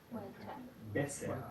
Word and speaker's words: besser: Y en el final de una sílaba o de una palabra, ¿saben qué es una sílaba, no? Okay. En el final de una sílaba o una palabra suena más como una A.